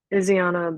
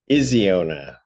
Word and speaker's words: Iziana: Iziana. Iziona. Vince, okay. Okay. I'm making, I know, it's just like it's spelled, but I made the vowel long vowel.